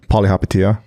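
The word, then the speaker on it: Palihapitiya: Polyhapatia.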